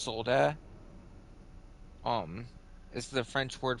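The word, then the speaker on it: soldat: that's it's actually pronounced solder um is the French word for Soldier but obviously you're not supposed to pronounce the T because you don't really pronounce any of the endings in French like it's kind of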